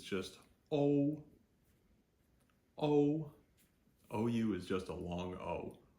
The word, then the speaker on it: o: So that O, that is exactly how we pronounce O, just a standalone O. In Pinyin, it's O, O. So, picture a New Jersey accent.